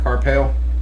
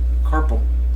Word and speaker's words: carpal: I got the CP or CT Carpel. Cartel. No. This is somebody. You said No, Carpel Carpel. Tunnel. Carpal Tunnel. Oh. Yeah. You can't pronounce it that way. It's carpal.